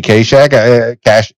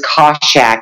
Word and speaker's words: Kaschak: The funny thing is, my father says Kaschak and my mother said Kaschak.